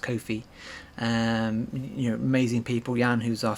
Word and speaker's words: Ko-fi: I've been told that it's pronounced Ko-fi.